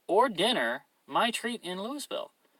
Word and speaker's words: Louisville: dinner my treat in Louisville pronounced lieu Louisville excuse me parent Louisville okay